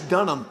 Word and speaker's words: Dunham: mispronounced my last name no it's Dunham when you look at it it's just don't hand just on your the